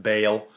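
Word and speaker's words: Baal: an idol dedicated to Bale b a a l i say ball apparently it's pronounced Bale whatever anyways the important part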